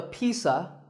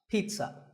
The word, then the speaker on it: pizza: did it's not a pizza and it's not a pizza there's no sound in this word it's Pete son pizza another food word that's